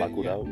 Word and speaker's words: Bacurau: Bacurau.